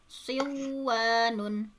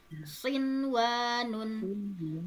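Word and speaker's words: صنوان: Jadi tidak dibaca aduya, buyanun, siwanun, tiwanun, tetapi dibacanya izhar atau jelas. Adunya, bunyanun, sinwanun, tinwanun.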